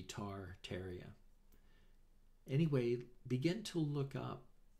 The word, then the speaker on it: Tartaria: you to look tateria t-a-r-t-a-r-i-a i understand you pronounce it not tartaria but it's looks like it would be tar terria anyway begin to look